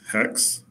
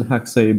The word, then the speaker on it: Haxe: And I do pronounce it haxe because I want to differentiate it from the word hax, H-A-C-K-S.